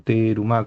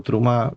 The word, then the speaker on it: terumá: Por su parte, la palabra terumá, que habría que pronunciarlo terumá con una i chiquita, o trumá, si uno habla más modernamente, proviene de la raíz